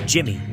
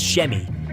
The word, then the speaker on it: Shemi: At first, Clark mispronounces the boy's name as Jimmy, but the boy corrects him, saying his real name is Shemi, and agrees to let Clark call him Jimmy, since the names are similar.